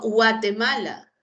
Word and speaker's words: Guatemala: O la palabra Guatemala. ¿No? Guatemala. Acá sí se pronuncia, acá sí hay grupo vocálico.